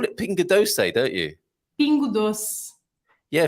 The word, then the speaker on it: doce: Yeah, Frank's got a different way of saying that, which always makes me giggle. You didn't Doce. say that before. Oh, don't say that. Doce. Yes. Doce, He's only saying that because teacher's here. He says it like an Italian when you're not here, Mia. Dolce.